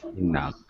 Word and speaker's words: enough: Enough. F sound. GH has enough.